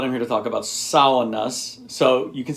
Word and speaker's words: sauna: The first syllable is like a female pig, Sow-u-na, Sow-u-na.